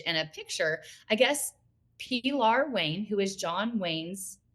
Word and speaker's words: Pilar: And I was like, but my mom calls me and she says, Pillar Wayne just wrote us a letter. She says, Pillar Wayne. It's Pilar.